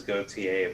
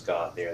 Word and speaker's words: Gauthier: that yeah that's uh that's how our french canadian family says is gautier but the americanized version is gothier that's how my family pronounces it but all right cool we